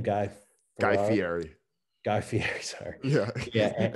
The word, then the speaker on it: Fieri: myself like diving into like you know guy fiera is that how you say his name guy guy fieri guy fieri sorry yeah yeah now i feel